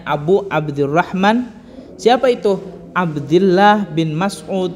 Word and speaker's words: Abu Abdurrahman: Kalau dalam redaksinya di sini tulisannya An Abi Abdurrahman. Tapi kalau kita nggak pakai an, maka dibacanya Abu Abdurrahman.